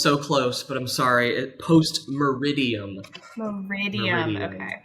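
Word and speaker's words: post meridiem: What is post-medium? Oh, man. Oh, it was so close, but I'm sorry. Post-meridium. Meridium, okay. Yep, just missed one syllable.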